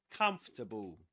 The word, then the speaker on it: comfortable: Comfortable. Comfortable. Okay. Three syllables in both.